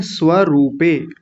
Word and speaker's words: स्वरूपे: और आगे है स्वरूपे, स्वरूपे। देखिए र पर बड़े ऊ की मात्रा है, रूपे।